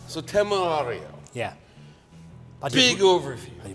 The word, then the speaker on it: Temerario: So Temerario. Yeah. But Big overview. The pronunciation was fantastic.